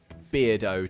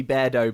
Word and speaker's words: Beardo: I was pronouncing it beardo to rhyme with weirdo because that's how it looks but I think it's probably supposed to be bear doe because bear doza bear